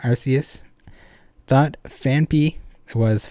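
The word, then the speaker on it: Phanpy: arceus without the hard k sound arceus thought fanpee was fanfee for like 20 years i know there's definitely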